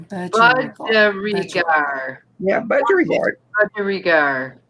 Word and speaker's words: budgerigar: Budgergard. Oh, I see, Sonia. There's an I there somewhere. Budgergard. Budgergard. Budgergard. Budgergard. MawMaw says Budgerigar. Yeah, Budgergard. Budgerigar. Budgergard, we go.